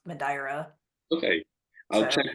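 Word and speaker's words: Madeira: mad Island okay okay I think like English people say madira but it's actually pronounced madra okay I'll check right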